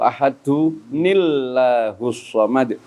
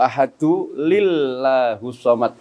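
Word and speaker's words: أحد الله الصمد: saya yang kurang benar membacanya tidak Qul huwallahu ahadu nillah tapi Qul huwallahu ahadu lillahus somad. Dan ini kesalahan yang sangat fatal.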